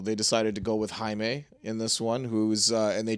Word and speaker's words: Jaime: And then Jamie Reyes came along. Jaime? Yeah, Jaime. This is like me pronouncing corpse for the Green Lantern Corps.